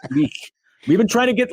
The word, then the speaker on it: Kulich: You kind of have to get a little phlegmy, like in the back of the mouth. Kulich.